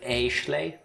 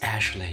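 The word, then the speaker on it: Ashleigh: you pronounce that name is it a schlei because there's an a and an e i would go that you still pronounce it ashley the e is silent just like i will be in a moment i'm gonna go with ashley it's ashley your arch rival she's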